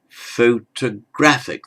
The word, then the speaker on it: photographic: word and in photographic the first o carries what we know as a secondary stress so it's half stressed photographic the main stress is on the a secondary stress is on the o photographic and the second